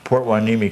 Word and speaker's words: Hueneme: Port Hueneme, California. Hueneme? Hueneme. Spell that for us.